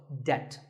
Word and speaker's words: debt: find yourself in debt the B is silent in this word so debt if a debt is